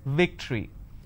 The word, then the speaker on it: victory: remember what I said if you have the letter V you need to bite your lower lip it's victory and if it's w